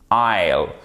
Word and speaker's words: isle: Par exemple, dans le mot an isle, an island, island, OK? Accent tonique. Ici, on n'entend pas le S dans les deux mots.